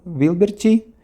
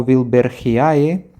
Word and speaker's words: wilbergiae: Wilberchi o Wilbergiae, según prefieren pronunciarlo.